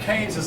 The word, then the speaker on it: Keynes: Now, that name is not spelled the way it sounds. His name is, I believe, I'm pretty sure it's pronounced Keynes.